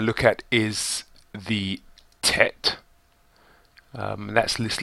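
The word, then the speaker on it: ט: It makes a T sound, tet.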